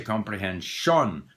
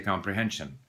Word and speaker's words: comprehension: We don't say comprehension. We say comprehension. So that sometimes called the schwa, but why introduce new terms? Unstressed syllable, the vowel disappears.